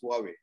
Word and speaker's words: Huawei: is you asked what how do you pronounce huawei it's like you and me asking who are we who are we oh